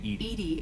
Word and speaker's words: EDI: airlock is a jar why are you named Edie is the phonetic pronunciation of e i it's an acronym for